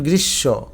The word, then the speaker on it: গ্রীষ্ম: শেষে যদি ম থাকে ম উচ্চারিত না হয়ে তার সাথে যে অক্ষরটা থাকে বা বর্ণটা থাকে সে বর্ণ যদি ব্যঞ্জন বর্ণ হয় সেটা দুইবার বসে যেমন এটার উচ্চারণ গ্রীসব এটা কিন্তু গ্রীষ্ম না